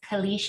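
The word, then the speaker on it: caliche: what are good options to replace them at uh this kalish and i hope i'm pronouncing that correctly cliche soil elite but i mean i don't i think that's how you say it it is cliche okay um so the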